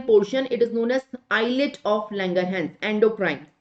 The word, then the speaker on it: islet: Can you see endocrine part of the pancreas is known as islet of Langerhans. The S is silent, right? It is known as islet of Langerhans.